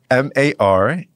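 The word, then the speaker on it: مرحبا: M-A-R-H-A-B-A.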